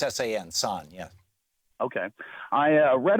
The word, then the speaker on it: San: It's S-A-N, San, yeah.